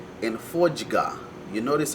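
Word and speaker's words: fodya: There's words like kujga and fojga. You notice how it's got the jga in it. Now, jga is spelled D-G-A. D-G-A, that gives you the jga sound.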